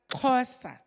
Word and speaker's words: Xhosa: courses is the fact that the concept is pronounced Cosa is pronounced as the father of amacosa by